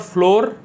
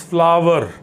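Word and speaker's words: flour: not stove it's stuff then we have flower it is not floor the atta which i'm talking about in the kitchen it's not floor it's flower then we have wound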